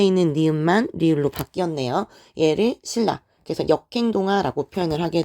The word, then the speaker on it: 신라: 고구려 백제 신라가 있죠 적기는 신 라라고 적지만 우리는 발음을 할 때 너무나 자연스럽게 신라라고 발음을 합니다 그 이유는 뒤에 있는 리의 영향으로 앞에 있는 리은이 요렇게 리을로 바뀌었기 때문인 거죠 그래서 뒤에 있는 애